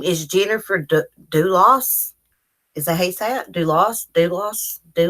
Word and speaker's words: Dulos: TV muted so I think get out of pronounce her name it's bul OS her name is Jennifer to do loss is they sadly lost they lost do us